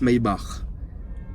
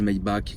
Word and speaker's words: Maybach: ya mes barres évidemment ça se prononce maybach je sais que les gens disent my back c'est pas parce que rick ross dit que c'est my back que ça s'appelle vraiment comme ça les premières les vrais